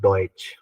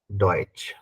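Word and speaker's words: Deutsch: अब आपको जर्मन के बारे में तो पता है कि जर्मन को बोलते हैं हम लोग डॉइच, जर्मन को बोलते हैं डॉइच।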